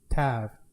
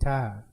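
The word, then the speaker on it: תו: est Tav, qui s'écrit, qui peut s'écrire dans notre alphabet à nous, T-A-W, parce que le W est une consonance d'un V. Alors, T-A-V, pour nous, de la façon dont on le prononce.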